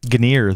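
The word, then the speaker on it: Gunnir: Acer ASRock Ganer Max and Onyx and Sparkle ganir that's how you pronounce it Ganer Ganer okay I think I always said Gunner yeah well I think Gunner is an American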